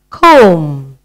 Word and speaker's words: comb: You brush your hair with a comb.